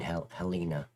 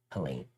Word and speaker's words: Helene: Helina. Helen. Helen. I said it wrong the first time. Helen.